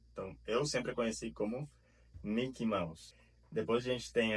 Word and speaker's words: Mickey: Dizemos Mickey e não Mickey, como falam os brasileiros.